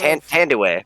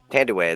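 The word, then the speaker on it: Thandiwe: That's the name of Tandiway. Tandiway. That's how you pronounce her actual Tandy.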